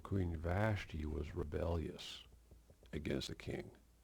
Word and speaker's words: Vashti: I just want to say that the Queen Vashti, I didn't say it right the first time, Queen Vashti was rebellious against the king.